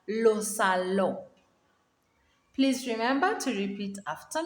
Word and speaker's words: salon: or the living room lo salo and it's not salon lo sallo the second